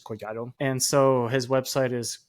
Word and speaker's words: Collado: So my last name, Colado is how you say it in like English and all that stuff, but in Spanish is Coyato.